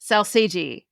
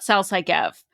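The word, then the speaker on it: Sal Sagev: Vintage Vegas, at Vintage Vegas on Instagram, let me know it's actually pronounced Salsagi, not Salsaigev. It's made up.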